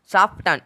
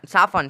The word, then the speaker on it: soften: SOFTEN, साफटन, साफन, साफन, साफन मतलब होता है कोमल, साफटन नहीं उच्चारण निकला है, साफन उच्चारण निकला है, मतलब कॉमन, यानी कि इसमें भी T जो है साइलेंट है, T क्या है, साइलेंट है।